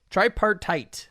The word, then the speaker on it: tripartite: tox yeah you know is that how you pronounce that try try part yup try yeah you got it right try part tight yeah this is a